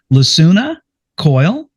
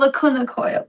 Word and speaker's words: Lacuna Coil: Touring with powerhouses like, now hopefully I pronounced this right. Lassuna Coyle. Oh, Lacuna Coil.